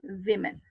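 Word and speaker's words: women: और आप मालूम कैसे करेंगे कौन सा वुमेन बोलें और कौन सा विमेन बोलें? विमेन is plural. और नॉर्मली वुमेन जो है वो आपका जो प्रोनाउंसिएशन जो एक्चुअली आपके वोवल से दिख रहा है वो इज फाइन, ठीक है, ठीक है, लेकिन जो प्लूरल है वो विमेन, विमेन, same sound विमेन।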